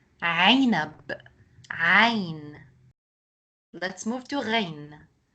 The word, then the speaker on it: عنب: Now, there is a common mistake that other students make when they pronounce the ain sound in a word. They make it more like an a sound, the alif sound. So it's not usfur, usfur, or inab, or ain. It's عصفور, عنب, عين.